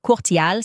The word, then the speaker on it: Courtial: Le nom de famille de sa mère est Courtial. Ça s'écrit C O U R T I A L.